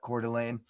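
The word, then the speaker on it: Coeur d'Alene: It is Bricks and Minifigs, Cordelane. That's how you pronounce that. Cordelane August 1st released update.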